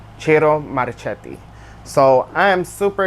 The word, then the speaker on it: Ciro: I've been calling him Sero, but after watching a bunch of his interviews with other people, I realized his name is pronounced Chiro. Chiro Maracheti.